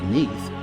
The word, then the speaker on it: Neath: it is mentioned that Neath in Welsh is pronounced simply Neath and not otherwise.